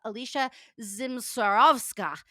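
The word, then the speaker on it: Alicja Zmysłowska: Shane from monthly snaps in Scotland we have Alicia Zim swarovska she taught me how to say it from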